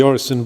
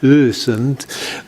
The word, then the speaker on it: Öresund: This is the Orison Bridge. Actually, the Orison is a complete mispronunciation, but I'd have to ask Marku to do it properly. It's something I can't manage, like Öresund, but but yeah, there you go.